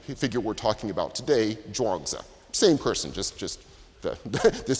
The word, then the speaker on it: Zhuangzi: based upon the older spelling it's often been mispronounced as trains ooh so if you have heard the name trains ooh that's actually a mispronunciation of indeed the figure we're talking about today drawings Oh same person just just this spelling we now